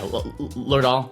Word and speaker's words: Lerdahl: Yeah, Lerdahl, that works.